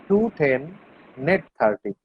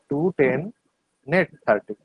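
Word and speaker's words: 2/10, n/30: কিন্তু এটার উচ্চারণ কিন্তু এভাবে করতে হয় না, এটার উচ্চারণ করতে হয় 210 net 30, 210 net 30, ঠিক আছে?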